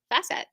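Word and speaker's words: Fassett: page it states that his name rhymes with safe asset C facet there we go see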